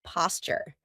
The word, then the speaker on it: posture: Grace used to be a dancer, so she has wonderful posture. Notice how I pronounce it? Posture. That's because a T and a Y sound together make a CH sound, like in Tuesday and tuna.